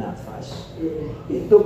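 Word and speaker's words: نَفَس: Innaha fursatun limujarradi akhdhin nafas. Itu kesempatan hanya untuk mengambil nafas. Ketika wakaf kita bisa mengambil nafas. Limujarradi akhdhin nafasi, bacanya jangan nafsi ya. Nafas nanti rohnya dicabut.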